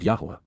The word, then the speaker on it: Yahowah: within the home, Baith, in the household, of Yahuwah, Yahuwah, in the proper pronunciation of the name of Eloah, God as